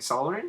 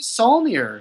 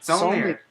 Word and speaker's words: Saulnier: Ooh, I don't know how to pronounce his name. Solomon? Jeremy Saulnier. Saulnier.